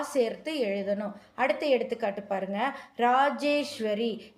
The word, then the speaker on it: ராஜேஸ்வரி: ராஜேஸ்வரி ஈ போடணும். இராஜேஸ்வரின்னு நம்ம சொல்ல வேண்டாம். ராஜேஸ்வரினே உச்சரிச்சா போதும். எழுதும்போது ஈ சேர்த்து எழுதணும்.